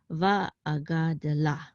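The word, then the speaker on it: וַאֲגַדְּלָה: Usually the shava is not pronounced, but because of this dagesh, we're going to pronounce it. Okay, so va'agade, and this is la. Va'agade la.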